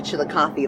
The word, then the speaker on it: Chillicothe: Chillicothe.